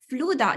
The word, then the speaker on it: Fluda: and thought leader, Ivona Fluda. Do you say Fluda in Polish? Exactly.